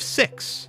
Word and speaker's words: sixths: different if you were to just say 5 six instead of five sixs right I mean would